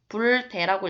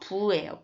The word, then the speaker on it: 부: 자, 그 다음 부대인이라고 있는데 여기서 아니 불인데 왜 부로 읽혔다고요? 대에서 이 음절이 디귿이죠, 지금. 그래서 부로 읽힌 거 알 수 있어요. 불대라고 읽으면 안 돼요. 부예요, 부.